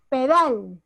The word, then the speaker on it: pedal: Si yo digo Pedal. ¿Dónde está la fuerza de voz? Dal. Dal. Dal.